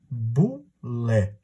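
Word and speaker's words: boulé: A primeira instituição que ele criou foi a famosa Bulé. Repare, Bulé se escreve B-O-U-L-E, mas às vezes você pode encontrar por aí escrito B-U-L-E, tanto faz.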